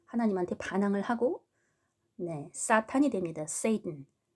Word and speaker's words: Satan: 세이튼. 한국말로는 사단 이렇게 하기도 하고 사탄 이렇게 하기도 하는데 영어로는 Satan 이렇게 발음을 하고요. 프랑스어로는 사탄 이렇게 한다고 했습니다. 철자는 똑같은데 발음이 틀려.